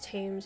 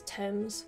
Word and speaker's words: Thames: somebody tell me that it's not pronounced tames as thames i am going to